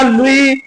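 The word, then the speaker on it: Louis: लुई English में लुईस इस type से लिखा है एल ओ यू आई S Hindi में उसका प्रोसेशन लुई होता है एस साइलेंट रहता है तो इस राजवंश के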